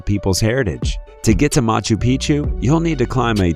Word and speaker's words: Machu Picchu: that as well four Machu Picchu Peru when a place rhymes with picture you can almost bet